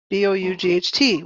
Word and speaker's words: bought: ah an ah sound like in the word b-o-u-g-h-t we say not bold it's bought ought bought